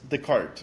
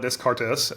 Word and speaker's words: Descartes: pitch what what is the cart underw writing yeah so first off thanks for saying it correctly most people call it Descartes um you know my